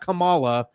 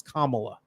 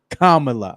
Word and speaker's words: Kamala: of all we gotta get the name the pronunciation right it's not Kamala she's not a wrestler from the 80s it's Kamala Kamala okay there you go there you go no